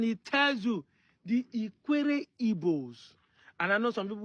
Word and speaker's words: Igbo: Direct pronunciation of Igbo. That's how I pronounce Igbo.